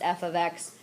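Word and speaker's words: f(x): Some students think it's f times 0 or f times x. It's pronounced f of x or f of 0.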